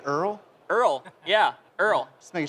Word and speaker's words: URL: And also, did you say Earl? Earl, yeah, Earl. Just making sure. That's how you say it. Is that right? Earl, is Earl right? Let's show of hands. Earl? URL or Earl?